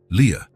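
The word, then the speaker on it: Lia: This is your name, he explained, pointing at each letter as he pronounced them. L I A. Leah.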